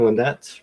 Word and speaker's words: Lynette: How do you say your name? Lynette. Right, Lynette? That is correct.